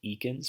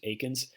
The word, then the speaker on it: Eakins: most famous painters after the Civil War Thomas Eakins Aikens is spelled with an e e a ki NS so it looks like Ekans but it's pronounced Aikens he studied in Philadelphia and he spent his